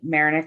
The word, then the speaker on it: Mayernik: Darlene Mayernik is that how I say it right?